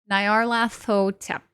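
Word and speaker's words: Nyarlathotep: Uh, Nayar, lath rhymes with bath. Same as ho, tep rhymes with pep. Okay. Nayar lath ho tep.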